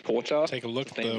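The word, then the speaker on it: 紅茶: It's very hard to pronounce, but in Japanese it's kocha. Take a look at the winnings here. Koucha.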